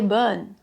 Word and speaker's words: bon: phrase : "C'est très bonne". Mais il faudrait dire : "C'est très bon".